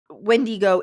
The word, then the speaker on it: Wendigo: And Wendigo is a correct term as well. But this is my research on top of their research and what I found. Both pronunciations are correct. Neither are wrong.